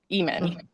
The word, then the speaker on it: Ehman: It's spelled EHMAN. Mm. Mm, it's And wonderful. it feels with the H, it's almost just like human. It's not about the heman or the sheman. It's just like Eamon.